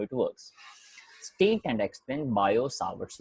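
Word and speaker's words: Biot-Savart: कहने आते थे कि भाई मेरे नाम में जो टी है वो साइलेंट है, मत बोला कर।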